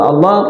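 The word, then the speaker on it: الله: Asal al-aslu fi asma'illah, asal dari nama Allah itu dibaca tafkhim, tebal. Allah itu pembacanya tebal, dan tebalnya kalau orang belum pernah menyebut nama Allah, dia nggak akan bisa.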